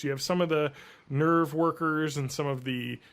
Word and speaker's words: NERV: will say one thing the original dub does is pronounce the company name nerve correctly because the new dub they're people pronouncing it nve and other people are pronouncing it nerve so it's another thing